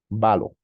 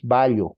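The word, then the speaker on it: βάλλω: Acá hay algo interesante para que puedas pronunciar valo no es vallo como en nuestro español esto no significa doble l o la y no es una sola en griego no se lee eh una Landa sí solo se le una Landa y no las dos vale decir que debes pronunciar valo echar arrojar lanzar poner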